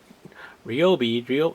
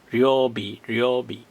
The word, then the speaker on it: Ryobi: to wait for ryobi i keep calling it ryobi real it's in japanese it's two syllables ryobi ryobi but americans um now